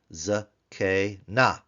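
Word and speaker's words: זקנה: for the singular feminine ZK na ZK na three- syllable word remember that's a vocal sha under the Zion under the kof it is it's also an open syllable and then the last syllable is open because it's a nun K so this is actually three open syllables together z z Z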